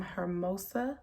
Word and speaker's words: Hermosa: As you guys can see by the title, this is an unboxing video from Hermosa hair.